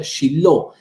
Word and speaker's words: Shiloh: 369 años en Silo, que en hebreo se pronuncia Shiloh.